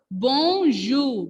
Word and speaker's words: bonjour: In the previous class also, we learned one word that was bonjour. B-O-N-J-O-U-R. And that time I told you here R will be silent.